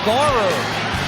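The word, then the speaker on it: Garror: return for a touchdown eric barrer rhymes with horror if you're a cyclones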